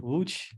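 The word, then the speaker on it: Łódź: when I came to watch that's the way that loads is pronounced in Polish uh with the discussion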